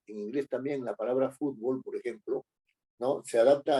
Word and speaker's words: fútbol: en en castellano no fútbol es una palabra grave que termina en L y que por lo tanto tiene que llevar acento en la u básquetbol también se escribe